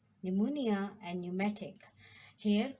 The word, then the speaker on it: pneumonia: So dear students, where P is silent, the letter P is not pronounced at the beginning of many words using the combinations of PS, PT, and PN. Cell, psephology, pterodactyl, pneumonia, and pneumatic.